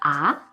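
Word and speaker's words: 啊: it has different tones first ah can be used to express surprise especially as something that's hard to believe in this case it is the second rising tone ah for example you are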